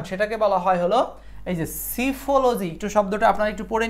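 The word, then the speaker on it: psephology: ওয়াই পি এস এখানে সিফলজি পি এর উচ্চারণ সাইলেন্স সিফলজি ফলজিতে পারবেন সমস্যা নাই সিফলজি তারানে নির্বাচন বিজ্ঞান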